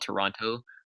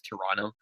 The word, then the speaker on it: Toronto: for example Americans called Toronto but like every carry can every Canadian knows that's Toronto like you don't pronounce the T to an off yeah